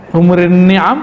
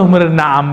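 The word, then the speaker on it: حمر النعم: Humurun ni'am apa humurun na'am bacanya itu ya.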